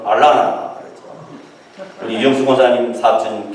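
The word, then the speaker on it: Atlanta: 우리 한국식 발음은 아틀란타지만 미국식 발음은 알라나 그렇죠.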